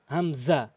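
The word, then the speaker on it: همزة: আলিফ এরপরে হামজা হামজা এভাবে উচ্চারণ করতে হবে হামজা হামজা হলকের শুরু থেকে কিন্তু হামজা এরপরে আসুন হা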